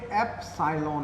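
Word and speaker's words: epsilon: ई नहीं है बच्चों, ये एप्सिलॉन है, ठीक है, एप्सिलॉन, ठीक है, एप्सिलॉन। अभी इसके बारे में बताऊंगा मैं, आप इसको ई नोट कभी प्रनाउंस ना करें, कभी 0 नीचे लगे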